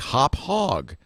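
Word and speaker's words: Hauppauge: even it says well it's pronounced like hop hog i said well you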